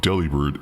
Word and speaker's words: Delibird: Delibird, the bird with a bag, is not Delibird, it's Delibird? Like delivered.